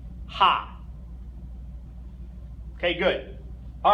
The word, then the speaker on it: H: go ah B say day a f g ha okay good all right so next group of